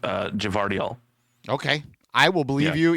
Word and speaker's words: Gvardiol: Josko Gvardiol is how I would pronounce that. Yeah, you get that G and the V in there, and JT's I think it's brain actually. I believe they're both. I believe they're both pronounced Gvardiol.